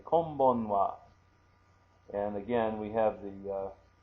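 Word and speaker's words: こんばんは: So kom, K-O-M, ban, B-A-N, and then wa, which we're going to write as ha.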